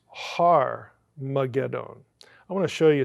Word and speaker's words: Armageddon: That is the H sound in Greek.